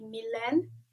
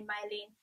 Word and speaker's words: Milen: about me is that my name is actually milen this is how you pronounce my name but in the UK everyone calls me milin so I just go with it so either my or mil I don't really mind so number two I